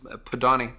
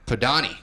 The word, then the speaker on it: Podany: that's what God's yeah the last name is pronounced PO Donnie PO Donnie hurt the Donnie hurts so thanks what is